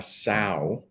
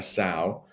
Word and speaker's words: sow: at a picture the first one and we pronounce it like this a sao a sao that is a female pig sao but we